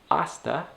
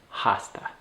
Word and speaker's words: hasta: of like an ola making sure that that h and hasta is silent so it's hasta and hasta hasta all right well